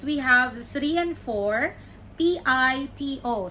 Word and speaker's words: pito: three and four p-i-t-o so you pronounce it as the first one Tito Pito Pito meaning whistle and then the second or the fourth one Pito meaning seven number seven so Pito we sell Pito seven and then